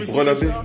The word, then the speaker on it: BR LA B: Brelabé, donc ça se prononce Brelabé.